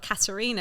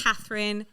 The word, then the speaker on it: Katerina: I would have thought you'd got the first bit right, Katerina, because everyone always says Catherine, Katrina.